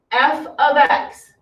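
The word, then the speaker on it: f(x): so just to recap f of x the value of f at x that's how you say it it's not f times x okay it's the value of f at x or f of x you say it either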